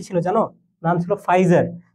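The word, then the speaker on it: Pfizer: ছিল জানো নাম ছিল ফাইজার তো ফাইজারের স্পেলিং হচ্ছে পি এফ আই জেড ই আর ফাইজার সো এগুলো কিন্তু ক্যারেক্টার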